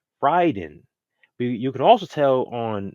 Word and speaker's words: Raiden: studio was telling them okay this is the right way you say the word because that's respecting you know their that word from the Japanese culture so let's say Ryden you can also tell